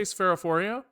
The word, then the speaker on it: Sphaerophoria: How do I pronounce my name? I say Spherophoria, but I mean, I